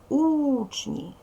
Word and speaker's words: учні: наголошений другий не наголошуємо вимовляємо слово учні наголос падає на перший склад наголос ставиться на звуком